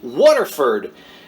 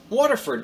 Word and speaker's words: Waterford: me waterford w-a-t-e-r and people in my neck of the woods pronounce that word water so uh being a proud south jersey native i would say waterford but everybody would laugh at that so water waterford glass